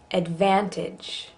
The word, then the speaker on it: advantage: Advantage. Advantage. Here's one where, because we're emphasizing the van, the ad part doesn't get, it's not advantage, advantage.